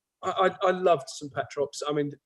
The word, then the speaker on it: St Petrox: Is it St Petrox? Yeah, St Petrox, yeah.